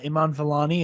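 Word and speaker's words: Iman Vellani: cannot wait to see more uh from uh iman valani is how you pronounce it correct yeah okay good i always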